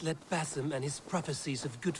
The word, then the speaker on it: Basim: Do not let Basim and his prophecies of good fortune sway you from our simple goal.